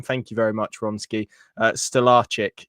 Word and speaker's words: Stolarczyk: Stellaric. Yes, that is right. I think that is the pronunciation that someone said to me. Actually, that does sound right.